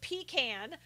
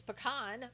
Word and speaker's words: pecan: pick on correctly yeah bill pronounced is at pecan I said no it's pecan bill but you know